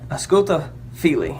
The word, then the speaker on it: Ausculta fili: I'm going to try to pronounce it. It's Ausculta Fili. Ausculta Fili is how it's pronounced.